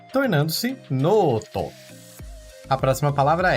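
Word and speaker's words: ノート: Perceba que há um traço entre o no e to, que indica o prolongamento do no, tornando-se noto.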